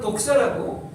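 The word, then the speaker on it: δόξα: 영광은 독사라고 발음을 잘해야 되는데 헬라어로 독사인데 이건 바로 뭐냐?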